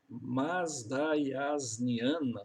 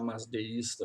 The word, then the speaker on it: mazdaiasniana: Mazdaiasniana seria a pronúncia mais correta, né? Mas vamos deixar mazdeísta mesmo.